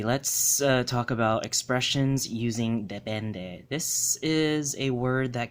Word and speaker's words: depende: It's pronounced as depende, and it came as actually a borrowed word from Spanish that has a similar meaning in English, and it's just now used in Cebuano.